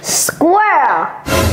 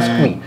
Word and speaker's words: squirrel: Ok, mais vous voyez ce qu'il a fait, c'est squirrel. C'est pas squee.